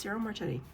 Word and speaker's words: Ciro Marchetti: For some reason, I thought I got his name wrong, even though I've said it now like 12 times. No, it's Ciro Marchetti.